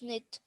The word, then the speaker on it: knit: The K is silent in this word.